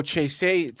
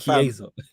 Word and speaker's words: Chiesa: Federico Chase. You're talking about however you pronounce, whatever you pronounce his name. Man. It's Chiesa. Oh, fam.